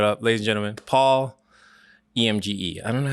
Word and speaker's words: Emge: And then number two, there's nothing between the M and the G, and you're just forgetting the E at the end.